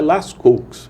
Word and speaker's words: Lascaux: A pronúncia parece que é Lascaux, mas aqui para o Ceará fica meio negócio de Lascaux. Lascaux, né?